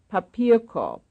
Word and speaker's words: Papierkorb: Papierkorb. Papierkorb, that's the second syllable.